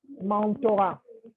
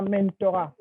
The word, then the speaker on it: mentorat: C'est mentorat, pas mentorat.